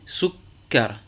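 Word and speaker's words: سُكَّر: eh bien, tout d'abord, vous prononcez la consonne doublée sans voyelle, souk, et ensuite vocalisez avec la voyelle que vous trouvez sur cette consonne. Ici, sukkar.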